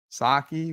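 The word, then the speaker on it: Psaki: Saki with a silent P.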